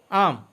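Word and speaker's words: arm: আর্ম অর্থ হাত বা বাহু, এখানে মাঝখানে আর এর উচ্চারণ হবে না, যেহেতু আর এর পরে পিওর কনসোনেন্ট, তাই উচ্চারণ হবে না।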